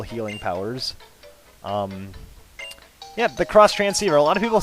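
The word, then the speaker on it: Xtransceiver: cross train transceiver um they call it the X transceiver but it's actually pronounced cross transceiver yeah she's going to heal you up with her magical healing powers um yep the cross transceiver a lot of people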